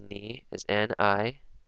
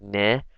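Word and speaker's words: 你: So like just knowing this, you might be able to sound it out, ni. So, but for me, I guess like ni doesn't really, it's not that intuitive. Like ni for me probably would sound like ne rather than ni.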